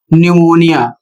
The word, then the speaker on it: pneumonia: और इसका उच्चारण होगा न्यूमोनिया। एन से पहले पी आया है इसलिए पी साइलेंट है।